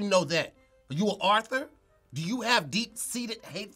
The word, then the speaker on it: Arthur: Did you just leave the last R off? Arthur. Are you rearranging these letters? How do you say it? How do you say it? Author. What? You got to put that U in there.